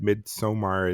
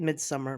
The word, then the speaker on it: Midsommar: that way yeah uh AR Aster has said that he doesn't mind if people say it that way but like Joe said mid somar is the pronunciation he himself uses came out oh sorry